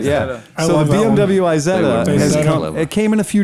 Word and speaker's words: Isetta: Isetta, it's just how you say it.